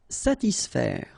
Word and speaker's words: satisfaire: profiter, calmer, satisfaire. Okay, so satis, and then remember A and E together will produce the sound E, so faire, satisfaire, satisfaire.